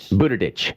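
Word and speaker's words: Buttigieg: is better no because no one could pronounce his last name properly Buda ditch yes he's pretty sure that's correct he's uh the mayor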